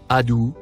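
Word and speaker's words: عدو: Les deux mots, en surbrillance bleue, se prononcent respectivement, Adou, Moubin.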